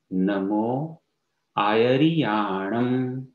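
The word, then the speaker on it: नमो आयरियाणं: नमो आयरियाणम, पाछो उच्चारण करिए छे, नमो आयरियाणम।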